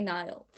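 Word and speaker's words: Nihil: think it's i think the authors generally say it like niall niall right and then when i read it in my head it's the other way but i know they say nile okay i think that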